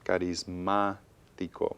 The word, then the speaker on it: carismático: En carismático. Muy bien. Again, any word that has stress in the third to the last syllable must have an accent mark.